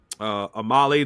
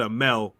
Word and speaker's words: Amale: Amale the French Hope. I said Amale the French Hope. Just to piss people off. But Amel, that's how you really say her name.